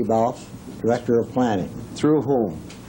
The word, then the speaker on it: Balfe: Balfe, is that correct? His name is pronounced Balf, yes. Balfe.